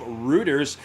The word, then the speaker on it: Reuters: is coming courtesy of reuters it rhymes with hooters don't go there for